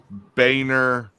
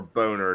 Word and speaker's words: Boehner: had a picture of Boehner and kids like it was a bunch of Republicans and with feigner in front or boner depending on how you want to say his name um with these kids